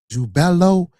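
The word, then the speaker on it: Jubelo: So these 3 ruffians, you got the name wrong. It's Jubella, Jubello, and Jubalum, not Jubalan.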